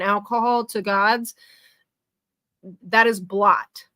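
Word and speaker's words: blót: any of it correctly he said bloat instead of blot the the sacrifices they do where they sacrifice like me and alcohol to gods that is blot not bloat he's not pronouncing any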